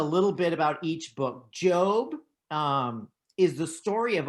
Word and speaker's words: Job: on that list is not job it's pronounced job in the bible psalms that's the